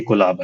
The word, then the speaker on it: Qolaba: So we've seen, more than 95% of people actually pronounce it Kolaba only throughout, the world. So that was, I think, Prakhar's intention, that it's just a name, a sound.